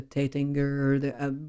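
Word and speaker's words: Taittinger: The Bollinger, the Tettinger, which was the real pronounced the way, their German way, the Deutz.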